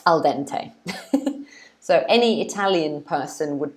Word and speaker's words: al dente: We pronounce it al dente. Al dente.